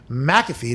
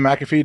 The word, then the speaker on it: McAfee: five hour energy dot com use promo code mcafee to get 10 off of your order this will end in a couple days but we have to use the first take version of mcafee do i get the promo no it's m